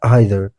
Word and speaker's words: either: زموږ او ستاسې زیاتره خلک امریکایي انګلیش زده کوي، نو په دې خاطر دوی دا لغت د neither او either تلفظ کوي، مګر په برټش انګلیش یا بریتانوي انګلیسي کې دا لغتونه د either او neither په شکل تلفظ کیږي.